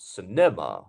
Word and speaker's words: cinema: you can see here we have three syllables cinema cinema so we have to have a stress syllable which one is it can you see the mark on the top yeah it's the small one here so it's the first syllable Cinema not Cinema or Cinema it's Cinema very good Come Along